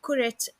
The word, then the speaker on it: كرة: So if you notice, I'm pronouncing the ha as a ta in the end of the word kura, and that's what we call idafe or genitive.